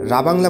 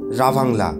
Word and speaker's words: রাভাংলা: জায়গাটার নাম রাবাংলা বলে থাকি, তবে আসল উচ্চারণ রাভাংলা।